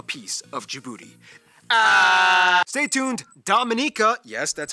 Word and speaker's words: Dominica: everyone wants a piece of djibouti stay tuned dominica yes that's how you pronounce it is coming up all right well